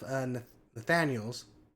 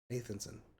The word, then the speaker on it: Nathanson: While Jeff Nathaniels, Nathanson, Nathanson, that's how you pronounce it.